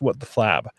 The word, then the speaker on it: WTF Lab: She hosts Why Me with Vera Lee and WTF Lab, which is pronounced What the Flab, right?